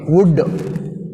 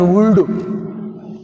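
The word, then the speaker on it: would: Some students are pronounce వుల్డ్, కుల్డ్, షుల్డ్. మీరు ఇట్లా పలుకుతుంటారు. ఈ కుల్డు, షుల్డు, ఉల్డు అని ఎల్ పలికినప్పుడు హౌ కెన్ we identify, how కెన్ you identify silent letters? నీకు ఎట్లా దొరుకుతాయి చెప్పండి? ఆ సైలెంట్ దాన్ని పలుకొద్దు. మళ్ళీ మళ్ళీ చెప్పేది అదే నేను. వుడ్. వుడ్ which is silent, L silent. కుడ్, ఎల్ is silent. షుడ్, L silent.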